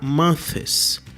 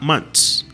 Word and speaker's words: months: Muita gente, porque vê o TH, quer pronunciar months, com a língua entre os dentes, porém, nem o gringo pronuncia essa palavra com a língua entre os dentes. Se você pronunciar um mês só, por exemplo, 1 month, aí sim você coloca a língua entre os dentes. Mas se tiver S no plural, você vai falar months. Months.